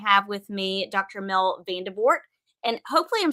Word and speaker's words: Vandevort: Mel Vanderbort. And hopefully I'm saying your last name correctly. That's how I'm pronouncing good.